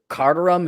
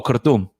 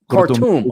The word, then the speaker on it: Khartoum: What's Carterum? Is that or is that Chad's main town? What's the main town in Sudan? Oh, Khartoum. Khartoum. Okay, that's how you pronounce it.